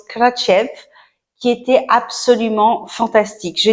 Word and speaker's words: Kratie: jours de voyage à krati qui se prononce katchev qui était absolument fantastique